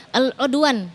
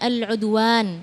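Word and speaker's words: العدوان: fasih juga Panjang pendeknya tadi al-udwan harusnya dibacanya al-udwan ya Ada Alif Mad thaabi'i jadi harus dibaca dengan ee apa namanya dengan tepat kalau misalnya misalnya belum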